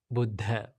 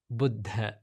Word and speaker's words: Buddha: Now, the correct way to pronounce the word Buddha is Buddha. It's not Buddha or it's not Buddha, it's Buddha.